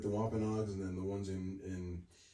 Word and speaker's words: Wampanoag: Is it pronounced Wampanoag?